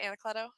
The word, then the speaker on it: Anacleto: Pacific, and that is the as I said, Batman number 1000 by Jay Anacleto. Did I say that right, Anacleto?